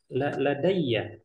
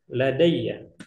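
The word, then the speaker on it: لديّ: Ladayya. Ya, dia menjadi ladayya. Tulisannya bagaimana? Sama seperti tadi. Sama yang itu. Nah, seperti ini. Ladayya. Kebaca insya Allah ya. Ladayya. Ya-nya tasydid.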